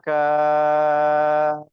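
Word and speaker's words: كاف: জিম সা কাফ, কা বলে ছেড়ে দিলে হবে না, কাফ লাস্টে ফা উচ্চারণ হবে, কাফ পড়েন। জিম সা কাফ।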